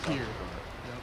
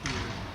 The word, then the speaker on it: Pierre: You told me last year that your hometown is pronounced Pierre. For everyone that's from Ohio, thinks it's Pierre. It's Yeah. Pierre.